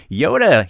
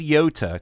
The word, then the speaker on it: Yota: let's bring her on the show here is Yoda Yoda how are you doing tonight I'm doing